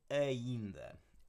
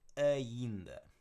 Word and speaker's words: ainda: Okay, and that D there with most D's in Portuguese, they're not like these strong, like hard d. It's more of a almost like a TH sound to it. So ainda.